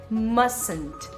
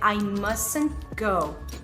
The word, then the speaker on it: mustn't: Ou então, dessa forma aqui, que seria mustn't. Você não vai pronunciar o T do meio, então você não vai dizer mustn't, você vai dizer mustn't.